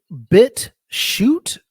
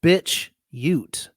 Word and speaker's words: BitChute: So now, is it BitChute or is it bitch ute? Because bitch ute. Because there's a couple different ways to pronounce that. BitChute. Yeah, BitChute.